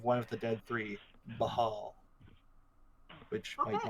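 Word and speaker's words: Bhaal: It might just be Baal. I'll check it. Oh. But why would he have an H then? I'm checking the Because it's pronunciation hot. guide. It's a hot, hot summer. It's Ball, Bawl, all caps, like balls.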